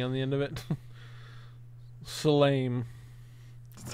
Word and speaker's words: salame: When the E is at the end of an Italian word, it's E. It has a long sound.